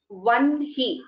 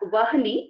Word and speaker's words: Vanhi: One was about the pronunciation of Vanhi. It is not Vahni, it is Vanhi.